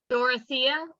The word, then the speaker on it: Dorothea: Dorothea, I'm sorry if that's not the right way to pronounce it.